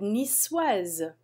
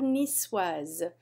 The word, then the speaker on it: niçoise: La salade niçoise. We pronounce that C like S because it has a CD on it. La salade niçoise.